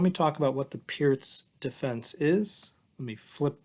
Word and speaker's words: Pirc: everyone i recently learned the pierce defense or perk defense as some people pronounce it from national master robert